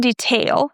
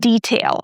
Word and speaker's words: detail: For example, the word detail. A lot of people mispronounce this one. So, it's not detail. We don't stress tail. We stress the first syllable, detail.